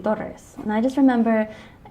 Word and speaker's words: Torres: last name correctly so i didn't grow up pronouncing my last name correctly i always say taurus but it's supposed to be doris and i just remember